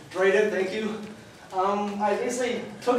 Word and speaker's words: Drayden: Drayden. Drayden, thank you.